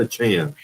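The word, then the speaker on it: Achane: saquan and desan or is how do you pronounce his name aanan achan aanan it's Devon it's Devon achan DJ ma said once moster is back it'll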